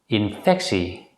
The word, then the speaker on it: infectie: If the letter combination TEA at the end of a word is preceded by the letter C or P, it's usually pronounced as si. In this situation, the letter T is pronounced as a voiceless consonant S.